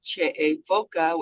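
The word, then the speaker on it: Che'e Foka: And in our tribal language, it's Che'efoka, which means salt people. So. Thank you. From Stony Ford. Spell that name, please.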